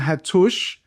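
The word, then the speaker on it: Hattush: Again, the Hatush, there's a double T there. And now it's sort of pronounced twice in each of the syllables, like Maluk, okay?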